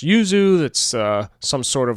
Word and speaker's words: yuzu: Jumping over, here's, I guess it's pronounced yuzu.